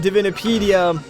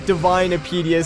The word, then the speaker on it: Divinipedia: I mean, I did mention Divinipedia very early on in this Let's Play, although I think I called it, like, Divinepedia, so I guess that's not the correct pronunciation.